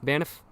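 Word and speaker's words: Banff: Baniff, it's only one F, one syllable.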